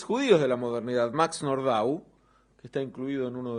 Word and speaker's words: Nordau: de Nordau, que es, digo Nordau, no Nordau, porque no era un nombre francés, viene más bien del polaco en la pronunciación, que sobresale por el rechazo que genera esta estupefacción.